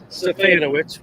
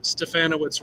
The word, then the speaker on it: Stefanowicz: And I'm thrilled to welcome in educator, author, musician, and friend, Jed Stefanowicz, which rhymes with Bananowitz.